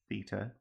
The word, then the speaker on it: theta: By the way, if you're wondering about this symbol, theta is how you pronounce it.